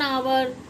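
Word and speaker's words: hour: 1 आवर 2 आवर, ऐसे पढ़ते हैं ना। तो आपने कभी देखा है कि एच साइलेंट क्यों है? एच साइलेंट इसलिए है क्योंकि वो ओ से पहले आया।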